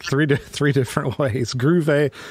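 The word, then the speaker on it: Grewe: to three different ways groove a grave a what the how do you say it it's not groovy okay no sense because it's and you're getting both W sound day on the V sound so I the way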